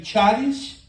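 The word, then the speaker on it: χάρις: mencionei ais se escreve taris Tá mas a pronúncia figurada no grego qu você vê ch se pronuncia como a j casteliana r e era empregada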